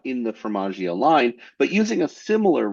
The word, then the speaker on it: Formaggio: Formaggio. Formaggio. I've heard you speak German. I'm going to say Fromaggio. Oh my God. Oh. It rhymes with DiMaggio, the baseball player.